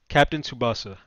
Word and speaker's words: Captain Tsubasa: screen yeah yeah so how do you even pronounce the name captain tsubasa captain tsubasa all right so captain tsubasa uh rise of